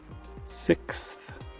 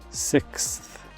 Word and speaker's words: sixth: pronunciation can pose a challenge due to the X and th sounds in succession you'll encounter this word when talking about dates school grades or anytime you have a numbered set of something the pronunciation is sixth sixth for example the sixth